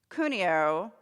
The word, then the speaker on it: Cuneo: baptism in ritualized faith cuneo that's not right is that right cuneo okay I practiced pronouncing his name kunio I actually wrote it out phonetically in my talk kunio analyzes several paragraphs